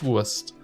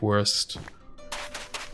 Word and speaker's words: wurst: The most delicious wurst. That's how you say it, not worst. Like you silly English speaking people say.